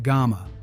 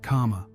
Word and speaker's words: gama: chain and Kama sickle Japanese can be tricky it's pronounced GMA not Kama researcher Nawa yamio even